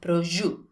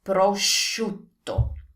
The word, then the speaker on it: prosciutto: There's no G, there's a SC, and that's prosciutto. So do you want to know how to pronounce this correctly? Here's the key. Think of shoes. Prosciutto, shoe, prosciutto.